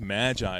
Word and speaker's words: Magi: how that's pronounced but it's pronounced Magi if you didn't know yeah Gift of the Magi it was uh that's